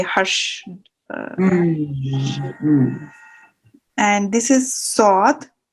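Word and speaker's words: ص: And this is sod, and this is a heavy sound, thick sound, you said, and we have to raise the tongue towards the palate to pronounce this sound.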